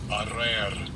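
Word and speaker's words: אָרַר: And I'm going to get a pronunciation of it. Strong's H779. Arer.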